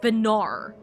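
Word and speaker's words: Venat: The way they kept saying it sounded sounded like there was a R at the end of it. Venar, not ba, if that makes sense.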